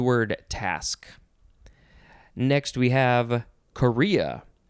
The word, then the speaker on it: chorea: Next, we have Korea. It is spelled Chorea. It is not the country, Korea.